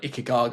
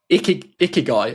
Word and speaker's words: Ikigai: what the Japanese name, it might be called like Ikigaga or Ikigagi or something, but it's I've absolutely butchered the word there, but I might do ask the ask the audience, Japanese methodology for balanced life. It's called Ikigai.